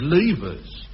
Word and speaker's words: Livers: And a more toffee piece you never did see called Mrs. Livers. Well, that's how you spell it. But she said Levers and made it plain enough.